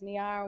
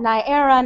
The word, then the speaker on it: Niara: of my name tags niara looks like niera naira naiara nierian near and sometimes trip slowly and uncertainly out of mouths like niagara as if i've misspelled